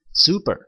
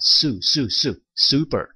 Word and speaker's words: super: super, super. 자, 주의하실 건 슈퍼마켓 해가지고 슈퍼 발음해가지고 슈퍼 이렇게 하시면 안 돼요. 자, super, super.